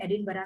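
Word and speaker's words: Edinburgh: ये एडिनबर्ग लिखा है लेकिन उसको प्रोनाउंस किया जाता है एडिनबरा.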